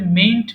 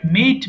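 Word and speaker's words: mayn't: আচ্ছা, মে নট কে আমরা একসাথে মেইন্ট বলবো, হ্যাঁ? এটা অনেক সময় অনেকে ভুল করে এন এর উচ্চারণ না করে বলে মেইট বলে। এটা কিন্তু মেইট না, মেইন্ট।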